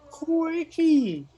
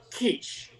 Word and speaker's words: quiche: I just asked for a quickie. Here on the menu, it's just... Now, Mr. Handsome in the first booth, still slurping his peaches, turns to the centenarian. Excuse me, sir. You know it's pronounced quiche.